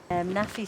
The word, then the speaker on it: NAAFI: NAAFI stands for Navy, Army, Air Force Institute.